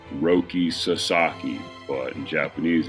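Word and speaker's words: Roki Sasaki: That's the whole reason like I know it's roi sasaki but in Japanese it's roi sasaki cuz the like in western you know for us in English there's an you know extra emphasis on the second syllable right like that's why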